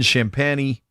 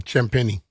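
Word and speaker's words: Champagnie: AD then Middleton then Champany I'm pronouncing that wrong champenni at center it's Zar and then Aton and then Bhuvich.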